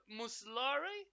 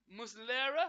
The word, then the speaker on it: Muslera: Cowboys pack Fernando Muslim muslory muslera I think is how you say his name for Uruguay then we